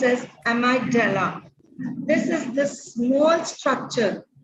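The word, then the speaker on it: amygdala: y g d a l a that I pronounce as amadel this is the small structure loded deep between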